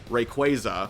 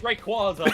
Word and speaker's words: Rayquaza: And if so, and if it is Bahamut, probably Bahamut versus Rayquaza, which apparently is the right way to pronounce it, so don't come at me for that. That shit's Rayquaza.